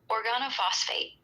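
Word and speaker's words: organophosphate: Organo phosphate. It's pronounced or G A N O F O SE. Organo like organ plus O. Phosphate like phosphate.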